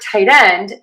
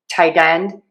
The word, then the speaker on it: tight end: So, for tight end, you might hear people say tight with an unreleased T. And that means there's the air is not popping out at the end, but we're marking the T by kind of keeping the tongue in the spot where we would usually make a Tight. You also might hear people use a flap T, which sounds like a D. Tighten. Tight end. Tight end. Tight end. Either is fine.